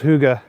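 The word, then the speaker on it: hygge: It's pronounced Huga.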